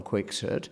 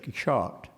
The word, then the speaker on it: Quixote: of the fact that in Cervantes' time it would not have been pronounced as though you were in range of a spittoon. It would have been much, much closer to the French Quixote.